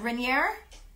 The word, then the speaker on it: Rainier: Rainier with the R. Hard R.